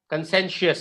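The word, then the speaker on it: conscientious: confused with the pronunciation c o n c-o-n-s-c-i-e-n-t-i-o-u-s consensus is how we pronounce this word concessions consensus consensus that's correct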